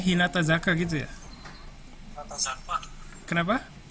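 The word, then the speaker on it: 日向坂: Bacanya Hinata Zaka gitu ya?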